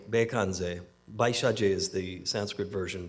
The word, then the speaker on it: Bekandze: I wanted to begin this event by chanting the Medicine Buddha mantra, which in Tibetan Buddhism, the Medicine Buddha his name is pronounced Bekanze.